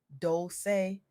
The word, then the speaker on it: Dolce: I'm your host Chi, pronounced dolce, like sweet softness whispered in French.